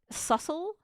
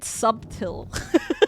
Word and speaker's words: subtle: I thought subtle was said subtil for so long for like an embarrassing amount of time. I'm like subtle. Subtle. But that's how it's spelled. It's spelled subtil.